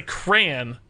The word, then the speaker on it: crayon: Like, but to me, it has to be 2 syllables. You say crayon, but it's crayon? It's not crayon. You guys are insane. It's not crayon. You don't draw with crayons. It's got to have at least a subtle hint of a second syllable.